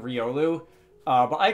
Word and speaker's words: Riolu: the internet it seems about whether this thing should be called Riu or Riolu I'm pretty sure the Pokedex 3D which I'm generally considered to be be like Canon as far as pronunciation on Pokémon goes um I'm pretty sure the Pokédex 3D software on the 3DS calls it Riolu uh but I call